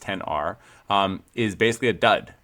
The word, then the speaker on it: XR: And the entire issue is about how the iPhone 10R, spelled XR, but pronounced 10R, um, is basically a dud.